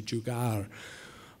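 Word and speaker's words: jugaad: have different dialects that maybe the pronunciation in Northern India is a little bit different maybe it's closer to jugar uh but I'll stick with jugad uh for now uh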